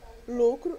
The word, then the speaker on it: lucro: Lucro é uma dissílaba e ela é paroxítona. Por que paroxítona? Porque a sílaba tônica é o lucro, ok? É o lu.